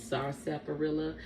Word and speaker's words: sarsaparilla: Now, you might hear a lot of people call this Indian sarsaparilla, but it's the actual pronunciation is sarsaparilla.